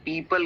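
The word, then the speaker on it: people: हां इसको पीपल नहीं कहना है। पीपल कहना है। इसमें ओ साइलेंट होता है तो पीपल okay पीपल keep scrolling for hours.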